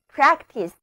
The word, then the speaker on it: practice: 这里的字母 A 读作梅花音。Practice。